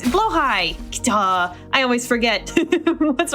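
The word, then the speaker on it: Blåhaj: If you'd like to switch Link's sprite to either Garfield or Heinz the Blahag, or Blahash, I can never pronounce it. You know what it is. It's Blowhigh.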